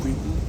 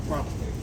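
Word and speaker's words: Kweku: And the name Kwiku also got mispronounced to Kwak.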